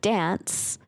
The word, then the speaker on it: dance: My favorite thing about the word dance is that if spelled phonetically, it's d a n ts. Dance. Yeah. Shut up. It is. It is. You're right. It's like pants.